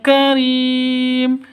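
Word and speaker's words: كريم: Karim, ini ri panjang dua ketukan asalnya ya, karena mad asli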